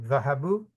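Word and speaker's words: ذهبوا: जैसे अलफ को नहीं करते, इसी तरह वाव को भी नहीं करते। असल में आप जो दम्मा है उसको प्रोनाउंस करते हैं। वाव और अलिफ नहीं पढ़ा जाता। हाँ, ज़हाबू।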